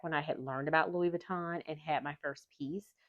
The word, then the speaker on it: Louis Vuitton: I have three main points about Louis Ventaten, which is not really the name, but when